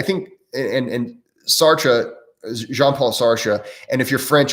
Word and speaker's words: Sartre: and and sartre jean-paul sarsha and if you're french i'm sorry i pronounce it sartre or i know it's supposed to be pronounced like or something like that but i'm midwestern american